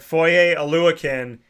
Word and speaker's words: Foye Oluokun: And because I went up to him and I said Foye Oluokun, and I had said it right, and I was like, yeah, I heard a lot of people don't say it right.